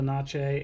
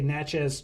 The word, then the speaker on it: Natchez: time that I had uh heard of the nache and also how to pronounce it and everything because it's good most people say uh because of the net they say Natchez Trace right right and but it's actually not